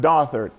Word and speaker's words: Dothard: You never split the TH. It's the. So my last name is pronounced Dothard.